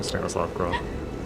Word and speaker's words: Stanislav Grof: Yeah, Stanislav Grof.